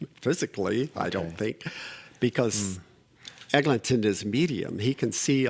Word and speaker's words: Eglinton: And by the way, it's Eglinton, but every time I type it, it autocorrects it, and I don't always fix it. It's without a G. Eglinton. Oh, I'm pronouncing it. That's fine. Eglinton. There's no Egling.